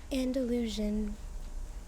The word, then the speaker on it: Andalusian: Andalusian.